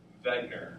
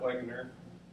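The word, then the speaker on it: Wegener: and yes that's V vegar not Wagner begner the reason why is because he's German and in the German language the W's are pronounced as V's exactly so basically uh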